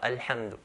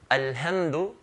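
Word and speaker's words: الحمد: If I say alhamdu, alhamdu, okay, as how it should be pronounced with a ha, alhamdu. If someone changes the ha into a ha and says alhamdu, alhamdulillahi rabbil alameen, then this person has made a lahn al-jali, a clear, obvious mistake.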